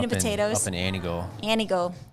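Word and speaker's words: Antigo: Anigo. T is silent, heavy on the O.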